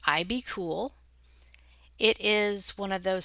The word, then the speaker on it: IBKUL: It's spelled IBKUL and pronounced IBCool.